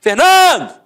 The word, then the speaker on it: Fernando: Por exemplo, Fernando! Ficou onde? A sílaba tônica? No NAN.